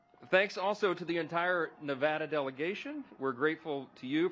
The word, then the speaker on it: Nevada: For my friends from Nevada, we are shaking. We're from Louisiana. Some people pronounce it Louisiana. So we always say Nevada, and now it's supposed to be Nevada.